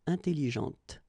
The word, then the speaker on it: intelligente: When you put this well, actually you will pronounce the final T, okay, but you don't pronounce this here. Intelligente.